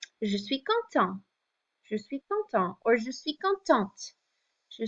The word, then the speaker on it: content: If you add the E on the end because you're a girl, you're describing yourself, then this T gets pronounced. Otherwise, if you're a guy, je suis content, you don't hear that last T.